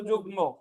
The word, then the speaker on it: যুগ্ম: জায়গায় মফালা নট ন আপনারা অনেকে যুগ্ন উচ্চারণ করেন বাট একচুয়ালি উচ্চারণ হছে যুগ্ম ঠিক আছে তো তাহলে